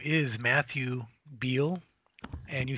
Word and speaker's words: Beall: guest okay so mystery guest's name is Matthew Beal and you spell my last name b as in boy e a l l pronounce it Beal I'm from the United States born and raised